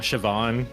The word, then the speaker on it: Siobhan: Siobhan, that has a B in it.